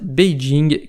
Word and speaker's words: Beijing: légendaire pékin en chine pékin et le nom francisé de la prononciation chinoise beijing qui signifie tout simplement